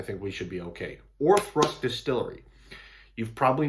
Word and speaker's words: Auchroisk: It's spelled like Auchroisk, but it's Auchroisk. And so if I can avoid phonetically saying that, then I think we should be okay. Auchroisk Distillery.